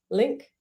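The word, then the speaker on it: LINQ: just a link how do you say it link yeah link that's it okay similar to use entity framework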